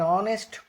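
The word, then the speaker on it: honest: ही इज एन ऑनेस्ट मैन, वो एक ईमानदार आदमी है। ऑनेस्ट यानी इसका प्रोनाउंसिएशन ऑ यानी वॉवेल से शुरू हो रहा।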